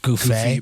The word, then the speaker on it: Gouffet: Which is spelled in a way to where you can't really tell right away that it's pronounced Goofy. Yeah. Or Goofy.